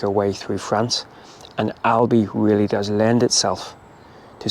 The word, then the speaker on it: Albi: And since last week's video, we have moved into France and we're in a rather beautiful town called Albi. I'm assuming that's how it's pronounced, not Aldi. Little bit more expensive than Aldi.